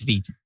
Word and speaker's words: Vite: So I was like, I'm going to do Vite because I've been hearing a lot about it. It's Vite. It's French. Vite. Yes. Okay. I always wondered that, so that's good to know. It's Vite.